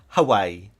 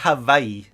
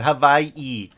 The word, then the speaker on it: Hawaii: gotta say like that Hawaii okay because all the W's in in Hawaii are pronounced as V's right so that's actually